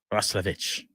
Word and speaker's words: Roslovic: Jack, now, how do you say his last name? Roslovic? Because I've heard Roslovich. Roslovich. Player pronunciation guide said Roslovic.